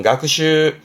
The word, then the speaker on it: 学習: 발음은 가크슈.